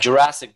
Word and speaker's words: Jurasek: my last name but Jurassic just like the movie is fine I will turn around